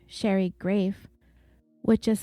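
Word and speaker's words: Graeff: early 2000s Sherry under her maiden name Sherry grafe which is spelled g r a e FF was writing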